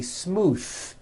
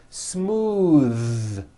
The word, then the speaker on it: smooth: Smooth, believe it or not, the th sound in smooth is voiced. Most foreign speakers say this word incorrectly. They say smooth with an unvoiced th, but it's voiced. smooth bathe.